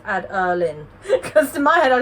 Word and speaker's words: Adeline: The name we loved is pronounced Mad Arlin. Hers is pronounced Ad-Erlin.